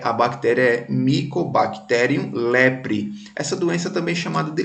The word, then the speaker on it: leprae: o lembra das nomenclaturas essa nomenclatura que quando tem o ar e o hediondo a semana taxonomia é que a gente pronuncia só ué então é a bactéria mycobacterium lebre essa doença também chamada